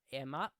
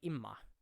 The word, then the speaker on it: Emma: Because for us here in Sweden, Emma, eller Emma, is E-M-M-A, and that is Emma. But this is like Imma.